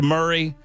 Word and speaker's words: Murray: the uh the super texter knows that it's pronounced Murray, but I think she or he they are attempting for me to start a campaign to change the pronunciation of Murray County to Mari County now that I live there.